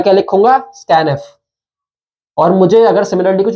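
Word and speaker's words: scanf: Tenth difference का ये है इसमें कि स्कैनफ यूज करते हैं हम, this is pronounced as स्कैनफ।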